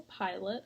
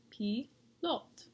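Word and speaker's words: pilote: the author was a pilot i thought i would teach you guys how to say pilot in french it's pi lot say it with me p lot and that is french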